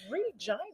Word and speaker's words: Regina: Regina. Uh-huh. It sounds like they say it's a city that rhymes with fun.